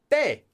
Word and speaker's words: 때: This is not the same as 때. Pronunciation. 때. 때. It has the double letter. 때. 대.